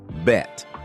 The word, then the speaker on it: Bette: Davis, though with a twist in pronunciation. Within the family, her name was shortened to a single syllable, bet.